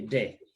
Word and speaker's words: des: Remember, s is silent, so we say de.